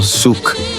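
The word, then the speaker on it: Xuc: Origen del shuk miguuño, el shuk, pronunciado suc.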